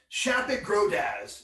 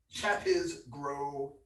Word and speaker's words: Shapit Grodaz: I have been going back and forth on how to pronounce this name for I started working on this, but it's Shapit Grodaz. It's as close as I can get. Shapit Grodaz. That's the best I can do.